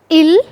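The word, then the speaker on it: ils: It's je, tu, il, elle, nous, vous, il, elle. Both are the same pronunciation. Okay, just keep this thing in mind. Both have the same pronunciation, il, elle.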